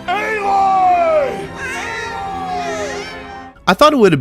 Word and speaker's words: Aloy: Yeah, pronounced Aloy! I thought it would have been pronounced closer to alloy, you know, like the mixture of metals.